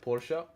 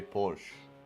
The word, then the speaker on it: Porsche: sure that would match you did it right pora yeah but but if I'm being honest I prefer I prefer to to say Porsche because it sounds easier I know it's wrong